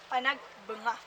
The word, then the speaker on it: Panagbenga: Panagbenga dito naganap at ang tamang pronunciation ng Panagbenga po natin is Panagbenga banga bang Panagbenga which means Panag bunga